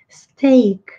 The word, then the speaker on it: steak: que é um bife se escreve st e a aí nós temos um é a função ei como se o i não fosse pronunciado e o ar tivesse o som do nome da letra aqui no alfabeto é o steak eu não tem como